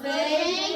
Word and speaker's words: Jose: It's Jose, the J is silent, okay? So Jose Jose plays soccer on Mondays and Wednesdays.